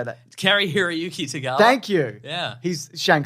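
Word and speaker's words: Cary-Hiroyuki Tagawa: Carrie Hiroyuki Tagawa.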